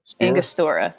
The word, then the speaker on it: Angostura: I am not good at pronouncing this. It says it's aromatic bitters, but the Angostura? Angostura, yeah.